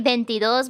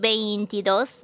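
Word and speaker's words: veintidós: actually pretty consistent fun fact we usually don't pronounce it being t we usually pronounce benti because it's easier so if you say bentidos bentitres instead of beintidos beintitress don't worry about it because people are going to understand it and it's actually quite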